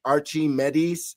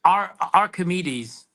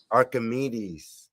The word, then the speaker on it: Archimedes: Archie Medis of Greek. Archimedes. Archimedes.